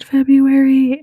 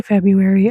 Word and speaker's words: February: I say February. I don't pronounce the R that first R that's in there.